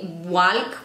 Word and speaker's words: walk: No se dice talk o talk, no se dice walk o walk, se dice talk, no se dice la L. Walk, no se dice la L.